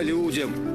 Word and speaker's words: людям: А людям. На первом слоге надо ставить ударение.